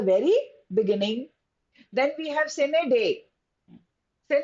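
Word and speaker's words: sine die: Then we have sin day. Sen. It has to be pronounced as sined day. Now some people may pronounce it in a different manner but doesn't matter but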